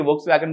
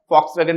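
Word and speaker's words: Volkswagen: इसी तरह से जर्मनी की वोक्सवैगन ग्रुप आता है, फॉक्सवैगन भी उसको कुछ बोलते हैं, वी से हम लोग लिखते हैं तो उसको कोई वोक्सवैगन भी बोलता है, तो दोनों तरह का प्रोनाउंसिएशन रहता है और इससे फोर्ड आ जाती है।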